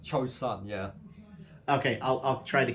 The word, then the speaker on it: Chosun: I think it was like a year or something until I got corrected by a Korean person that it's Chosun. I was like, I've been saying it wrong this whole Joseon. time. Yeah, it's Chosun. Okay.